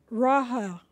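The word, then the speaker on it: Rophe: I pronounce it Raha. Raha. Pronouncing the H-E.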